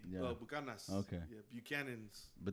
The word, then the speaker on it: Buchanan's: Like, how do you say Bucanas? Buchanan's.